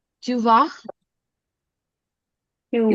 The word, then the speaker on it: vas: S is silent. Tu vas. Tu Tu vas.